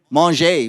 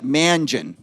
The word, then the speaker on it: Mangin: from Amy Delacouille now, Amy Mangeon. Do I say that right, Don? How do you say it? Manger, pardon me. To me, it looks like Mangin, okay? But Manger, okay, Amy Manger.